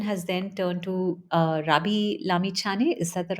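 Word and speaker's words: Rabi Lamichhane: lot of attention has then turned to uh Rabi Lami Chani. Is that the right way to pronounce his name?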